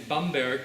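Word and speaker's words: Bamberg: at and I was born in bomberg to use the proper German pronunciation a beautiful city in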